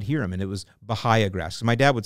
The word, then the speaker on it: Bahia: And I would just listen, and I would hear people pronouncing it Bahia. Now, on top of that, I got some more validation on the way that I pronounce it when I met Mark Govan.